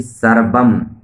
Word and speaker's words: सर्वम्: त्वमेव केवलम् हरतसि, त्वमेव सर्वम्, ऐसे कहते हो 'सर्वम्', 'मा' जुड़ा है, सर्वम् खल्विदम्, खल।